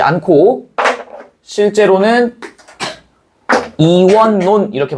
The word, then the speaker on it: 이원론: 이월론 이렇게 해야 되지. 근데 이렇게 발음하지 않고 실제로는 이원논 이렇게 발음한다. 이원론 이렇게 발음한다고. 얘도 니은니은 들어가 있죠.